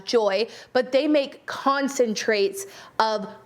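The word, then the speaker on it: Joi: people like i said i think you pronounce this brand as joy but they make concentrates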